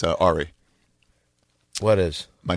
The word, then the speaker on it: Ari: If you say Ari. No, and you're mispronouncing it actually by accident. It's Ari.